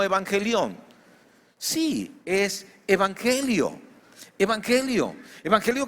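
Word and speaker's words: εὐαγγέλιον: ¿Saben cómo se pronuncia en griego? Algo así como evangelión.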